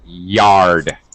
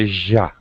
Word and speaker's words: yard: You have the very Spanish J sound with Y, yard, ya, not the ja, okay? Don't let your tongue touch the top of your mouth.